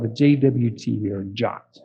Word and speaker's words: JWT: called the JWT or jot it's they actually put the pronunciation of JWT in the spec which I thought was kind of funny so the official pronunciation is jot it can be it's